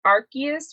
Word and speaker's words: Arceus: So his name is supposedly supposed to be pronounced Arceus, which is a Pokemon god.